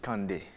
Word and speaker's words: Kandé: évoquer le prénom Candé Kandé à ne pas à ne pas mal prononcé parce que si vous prononcez mal vous tombez sur dans dans autre chose donc Kandé non c'est pas k c'est pas c'est pasand Kandé donc on tire un peu sur le sur le N pour faire donc le